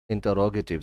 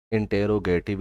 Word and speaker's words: interrogative: कुछ जगहों पर मैंने ये सुना है इंटेरोगेटिव इसको पढ़ रहे होते हैं, तो ये इंटेरोगेटिव नहीं बल्कि इसको हम पढ़ेंगे इंटरोगेटिव सेंटेंस।